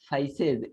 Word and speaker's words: faeces: देखो ये लिखा है, इसको पढ़ना है feces, लिखा है feces, FAECES, feces लिखा है, लेकिन बोला जाएगा feces।